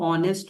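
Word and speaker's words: honest: जैसे ऑनेस्ट में ओ नेस्ट हम बोलते हैं एच साइलेंट है।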